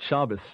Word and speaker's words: Shabbos: grew up with this they may not even know what Shabbos is which is Sabbath that Jewish pronunciation of Sabbath just to clarify that